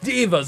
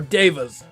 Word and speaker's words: devas: Try to satisfy my 4 dark divas of or devas is the pronunciation, my apologies.